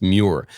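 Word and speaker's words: Muir: his name because it's spelled m but it's pronounced mure David mure and Lindsey Davis who is his co-host interjected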